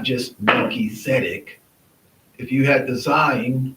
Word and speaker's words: Melchizedek: are pronouncing the word, you will sometimes pronounce the T and the S, like flowing out together. So this would be Melchizedek, is how you would say Melchizedek. That's the way you should say it.